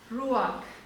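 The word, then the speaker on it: רוח: que la palabra espíritu en hebreo significa o no significa se pronuncia rúa y no sólo significa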